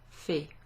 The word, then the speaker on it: fait: So the first three present tense conjugations of faire sound the same. Je fais, tu fais, il, elle, on fait. Mais il y a un T à la fin de ceci, d'accord? So at the end of the third person there's a T.